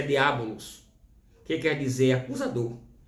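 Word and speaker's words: διάβολος: A palavra acusador é um termo grego e a pronúncia é diabolos, que quer dizer acusador.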